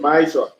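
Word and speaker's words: מעשר: Means 10 in the Hebrew and is pronounced Ma'ishra.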